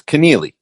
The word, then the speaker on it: Keneally: I never pronounce anyone's names correctly or any place's names. So everybody, just blame me. Keneally? It's Keneally.